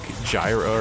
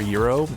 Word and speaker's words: gyro: they were selling a Greek Gyro or Euro Gyro Euro however you want to pronounce it American or otherwise um a Euro crafting